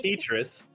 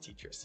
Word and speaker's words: Tetris: of Tetris oh sick petus it is actually pronounced tetrus yes yes she's going to